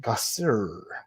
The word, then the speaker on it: Gasser: now big daddy says my last name is gasser but we pronounce it guster what the heck i